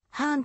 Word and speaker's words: ハーン: したものただ妻の節子にはハーンと読むことを教えたことがある版もしくは